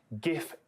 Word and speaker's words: GIF: It is more popular than GIF, but it's not a landslide.